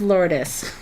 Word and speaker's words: Lourdes: I want to make sure I'm saying it right. So number 2, Lourdes. Okay, well I guess my husband wins. So from now on, you will forever be known as Lourdes.